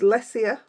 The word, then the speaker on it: Lesia: And the stamps are now I'm silly me because I actually YouTubed the name to see how to pronounce it. So it's Leia, but I didn't do the last name, but I'm saying Zagada.